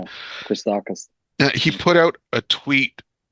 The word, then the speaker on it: Christakis: Christakis, or how do you pronounce his name? Yeah. Christakis.